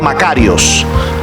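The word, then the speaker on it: μακάριος: Bienaventurados tiene su origen una palabra griega que se llama o se pronuncia macarios macarios macarios cuando se traduce al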